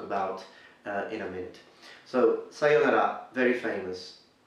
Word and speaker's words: sayonara: next also in pronunciation we need to be careful because normally you need to learn to increase the length of the pronunciation of the O So sayonara Sayo and then put a little accent at the end sayonara foreign let's move to